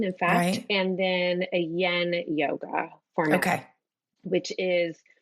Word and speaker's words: yin: And and did you call it yen or yen? I probably pronounced it wrong, but yen.